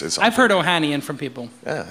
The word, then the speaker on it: Ohanian: Ohanian, did I pronounce it correct?